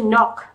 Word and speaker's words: knock: Cái từ knock thì cái từ này em nhớ cho cô đầu tiên là âm ca câm, chúng ta không đọc là knock. Ca câm đầu tiên đã.